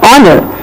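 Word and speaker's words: honour: In certain words, H is silent, like in the words H-O-N-E-S-T, but we are reading it as honest. H-O-N-O-U-R, honor.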